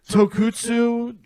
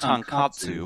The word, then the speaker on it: tonkatsu: I got the Tokutsu black and red. I got... It's pronounced tonkatsu. Tonkatsu, thank you.